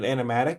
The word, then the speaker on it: animatic: So, how long does it take to make Am I pronouncing it right? An animatic with like Yeah, you got it.